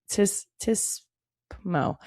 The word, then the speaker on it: TSPMO: Tismo. They pronounce it.